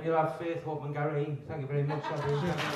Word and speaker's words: Garrity: My surname's Garrity. It's not charity. Just rhymes with charity.